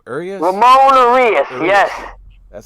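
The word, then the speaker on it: Urías: Ramon Urias.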